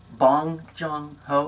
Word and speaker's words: Bong Joon-ho: Bong Joon-ho, is that how you say it?